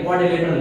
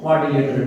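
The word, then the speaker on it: quadrilateral: QUAD, क्वाडी, DRI, R silent है, LATERA, क्वाड्रिलेटरल। क्या बोलते हैं? क्वाड्रिलेटरल, ठीक है।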